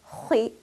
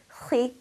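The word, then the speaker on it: خِ: Kha carrying a kasra will be pronounced as khi. Notice that I'm still rounding my mouth and filling it with air, even though it has kasra. Khi. If I stretch my mouth and pronounce it with an empty mouth, it would sound like this.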